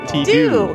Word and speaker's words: Tito: And so Paul goes, oh, you say it T-do. T-do. Tito.